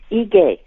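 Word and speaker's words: Ige: ahead yes governor um the Governor of Hawaii name is pronounced EJ EJ okay thank you yes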